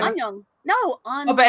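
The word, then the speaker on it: 안녕: But when you're saying it short, it's still just annyeong. But it's still longer than hi. You say onion? Yeah. What? Sounds like it. Onion. Annyeong.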